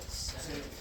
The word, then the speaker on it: Sinek: Sinek.